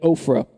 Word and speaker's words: Ophrah: Then the angel of the Lord came and sat beneath the great tree at Ophrah. I originally would always pronounce this as Oprah, so you guys are ahead of me now.